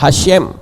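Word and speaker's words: Hashem: Yod he wau he sedangkan hasyem itu he syin mem membacanya hasyem masa seperti ini dibaca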